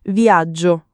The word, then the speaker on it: viaggio: Non viaggio come in inglese, ma con la g doppia marcata.